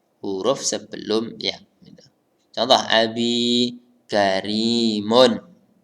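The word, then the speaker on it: كَرِيمٌ: sebelum ya Coba Abby Karimun ini bacanya Karimun ya bukan gharimin Hai maknanya karena tidak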